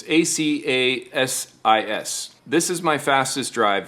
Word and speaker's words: ACASIS: It's ACASIS.